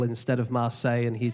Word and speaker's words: Marseille: Yeah, so he would say Marseille instead of Marseille, and he'd say Calais, but he deliberately mispronounced these things, didn't he?